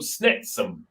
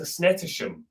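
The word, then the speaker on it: Snettisham: to norfolk to a place called snetsum um but the whole time i was like yeah we're going to snetasham you know we're going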